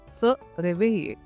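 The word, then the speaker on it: se réveiller: स रेवेइये।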